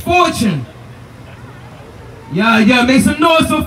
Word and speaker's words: Ivtune: So his name is spelled IVTUNE, but he pronounced that Fortune.